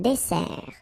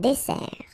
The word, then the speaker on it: dessert: So, remember that we've got here two S. Okay? That's the reason why you pronounce it S. And then it opens the dessert. Un dessert. So you don't say un dessert, okay? But you say un dessert. Final T not pronounced.